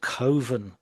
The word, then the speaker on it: Coven: make a film called Coven, um, and he Coven, because coven rhymes with oven, and he didn't like that.